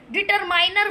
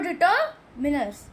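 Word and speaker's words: determiner: ऊपर दिखा रहा हूँ, इसको लोग बहुत सारे डिटरमाइनर बोलते हैं, डिटरमाइनर। और आपने मैथ्स के अंदर भी देखा होगा, जैसे x का मान ज्ञात करो तो इंग्लिश में लिखा होता है डिटरमिन the value of x, तो उसको क्या पढ़ते हैं लोग, डिटरमाइन the value of x। तो भाई डिटरमाइन नहीं होता है हमारा, इसका जो प्रोनाउंसिएशन है वो है डिटरमिन और डिटरमिनर्स। क्लियर? डिटरमिन बोला जाएगा, डिटरमाइनर नहीं। ER को करेक्टली प्रोनाउंस नहीं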